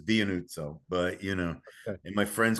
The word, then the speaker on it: Dianuzzo: is it Dianuzzo? Close enough. Good enough. Everybody in my family says it differently, so I've never been thin-skinned about it. How do you say it? I say it Dianuzzo, but Dianuzzo.